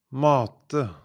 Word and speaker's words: mate: Mate, mate, mate, matte, matte, matte, mate, feed, matte, math.